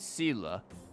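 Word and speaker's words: Seele: you you know for traces of wildfire okay zela is usually always out on patrol here at this time wildfire up to hmm are they avoiding me they pronounce it sila i always heard well i mean i've heard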